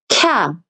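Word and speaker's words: きゃ: 그러면 이건 키야가 아니고요. 이 두 가지를 합쳐서 발음을 하는 거예요. 그러면 어떻게 발음을 하느냐? 캬 이렇게 발음을 하는 거죠.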